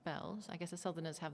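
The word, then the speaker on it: Beall: Although it's written Beale, it's pronounced Bells.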